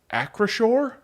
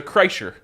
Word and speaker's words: Acrisure: Yes, I learned how to say this today. Acrisure? There you go. This whole time I thought it was a Kreischer.